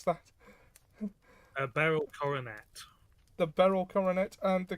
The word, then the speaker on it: Beryl Coronet: How do you pronounce that? Beryl Coronet.